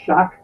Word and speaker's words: Shoch: Uh, first of all, it's my last name is pronounced shock like electric shock.